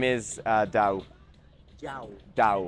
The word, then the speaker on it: Dao: what is your name my name is uh Dao Dao da how do you spell it d a o okay thank you so